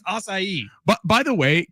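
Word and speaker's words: açaí: There's like a little accent on the sea. I think it's acai.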